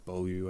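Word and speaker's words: Beaulieu: I said Matt hey Corey bolu I think is how you say his last name he's got a weird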